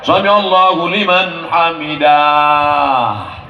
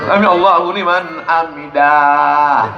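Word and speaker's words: سمع الله لمن حمده: Sami Allahu liman hamidah. Mana ada alif di situ? Kan pendek. Sami Allahu liman hamidah.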